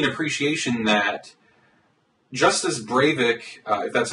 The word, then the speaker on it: Breivik: definitely gives me an appreciation that just as brave ik that's how you pronounce his name wanted to see a hegemonic